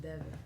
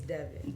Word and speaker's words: Devin: so ladies and gentlemen Dev 11 that's just Deon Deon de you can say Dev 11 but for the record my name is Devon how you say it Deon just Deon yeah